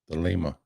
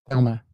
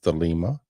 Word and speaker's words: Thelema: for the teachings of Thelema. I have to keep looking at Jason. I look at it and I want to say Thelma.